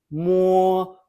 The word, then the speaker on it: mo: After more, it is pronounced as more, putting a quick u before o, but we write more.